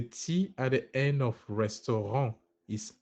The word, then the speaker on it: restaurant: ra actually get it the T at the end is silent okay nice nice nice